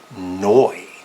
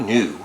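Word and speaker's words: Neu!: doing it wrong but this is noi not new it's noi a German band this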